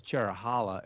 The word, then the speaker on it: Cherohala: I I always thought it was Cherrow for Cherokee, which is the one forest it comes from, and Hala to go with the Nanta Hala forest, which